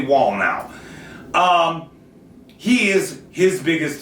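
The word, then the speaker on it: Wallnau: WN was WN now I don't know how to pronounce it it's w l l n a so I'm going to say wall now um he is his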